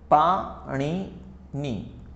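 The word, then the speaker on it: पाणिनि: पाण ने ठीक है कुछ लोग इसको पानी नहीं बोलते हैं पनी नहीं बोलते हैं उसको ऐसे लिखते हैं गुजराती में महर सी पाण नी ठीक है पाणिनी महर्षि यह रहा प्रोनाउंस के हिसाब से महर्षि पाणिनी वो संस्कृत के महान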